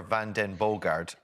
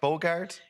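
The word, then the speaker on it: van den Bogaerde: lucilla uh elizabeth jennifer van den bogard am i pronouncing that right bogart that's perfect thank you very much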